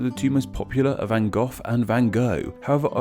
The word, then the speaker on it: Van Gogh: it seems that the two most popular are Van Gogh and Van Gogh. However, I also heard Van Gogh. It seems that the Dutch, where he is from, say it very differently, and that is as Van Gogh.